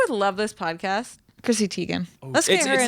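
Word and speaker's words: Teigen: love this podcast Chrissy Tegan let's get her it's pronounced tigan just saying oh let's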